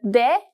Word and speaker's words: Д: If you have, you probably realize that de is pronounced just like the English D.